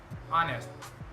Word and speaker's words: honest: Sometimes it's not pronounced at the start of a word like honest and hour.